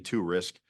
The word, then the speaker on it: Torisk: of me uh tur risk is U if you knew it phonetically to risk uh but you risk